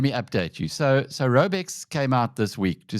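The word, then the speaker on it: Raubex: How do you pronounce the names of those two? First of all, those two operation Robex which is a construction group and then Barber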